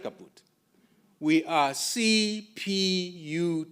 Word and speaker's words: CPUT: Don't take shortcut and say Cut. No, it's not. It is C P U T.